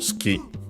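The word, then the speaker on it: 好き: Then we have suki, an adjective which means liking, preferred, favorite, accent on the ki. On the final syllable. By the way, the U is barely heard if at all. Ski.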